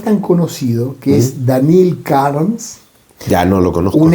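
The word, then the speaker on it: Kharms: Mire, les traje un cuentito chiquito para contarlo, para que vean la locura del Danil Karms. Se escribe Daniel en ruso, con dos i, y Karms, K-H-A-R-M-S.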